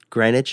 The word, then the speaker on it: Greenwitch: Greenwich just put out a release.